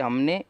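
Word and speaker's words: who: जैसे कि हु का मतलब कौन होता है, यानी कौन। और हु में आप देखेंगे कि जो डब्लू है उसके बाद एच है, और इसीलिए जो डब्लू है हमारा वो साइलेंट होता है इस वर्ड में।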